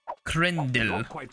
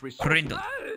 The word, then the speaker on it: Krendel: Krendel. Krendel. I gotta like say the L soft because there's a that little B or whatever after it.